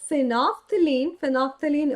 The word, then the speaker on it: phenolphthalein: Because when I talk about phenolphthalein OP, because just look at the name, and here L is silent.